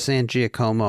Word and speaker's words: San Giacomo: How she pronounces it. It's not. It's true. Yeah. She says San Giacomo.